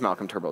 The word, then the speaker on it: Turnbull: he went so quickly Malcolm turble it is Malcolm turble it's right there on the slide I I